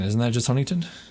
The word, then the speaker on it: Huntington: PE yeah well that's Huntington isn't that just Huntington H hun okay yeah people pronounce the T and it drives me crazy Huntington hun Huntington people